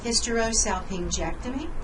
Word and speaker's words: hysterosalpingectomy: Hysterosalpingectomy, again G in front of an E is a soft G sound, a J sound.